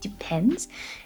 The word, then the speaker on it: depends: Careful here, we want to add an S. It depends.